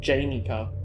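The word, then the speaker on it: Janney: So the Wikipedia page is called Janey coupler, but it's spelt more like Janny.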